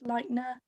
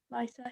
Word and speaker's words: Leiter: And then half the film is this poker game, and we get reintroduced to an old character, Felix Leitner. Is that how you say it? Leiter, yeah.